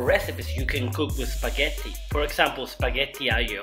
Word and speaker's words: spaghetti: Well, the right pronunciation for this pasta is spaghetti. Oftentimes people call it spaghetti, and that's an American way of saying it, but it's not correct.